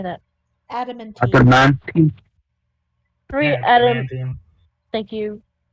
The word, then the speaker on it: adamantine: Adamantine.